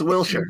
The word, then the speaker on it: Wilshire: way wilshire i want a drone shirt it's wilshire well i know it's pronounced will's shirt but some people don't get